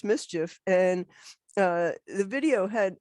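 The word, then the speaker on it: MSCHF: the brooklyn-based prank company whose name is pronounced mischief and uh the video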